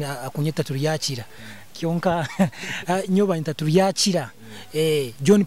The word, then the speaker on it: Turyakira: Okay, we bali muno omwanjuzi wa program eno Orubazo ankoku babagambire ninyowe Turyakira John of course wenko mwanjuzi tamanyire pronunciation akunyeta Turyakira kionka nyoba nta Turyakira John kimesa nti